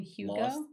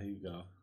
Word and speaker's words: Hugo: from uh you mean hugo yeah you go did you say hugo like huge and human you go oh i